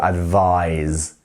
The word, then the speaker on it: advise: as I have said the verb form has the z sound at the end so advise to advise can you repeat after